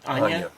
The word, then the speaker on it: Anja: When he marries, how do you say Anja? Anya? Anya. Yes.